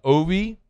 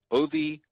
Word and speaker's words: Ovie: Ovie Oghoufo, who will be a super senior, is going to play his final season of college football for LSU.